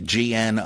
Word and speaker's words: Gnostic: If you're talking about the mystical type of early Christianity, G-N-O-S-T-I-C, that is Gnostic. The G is silent.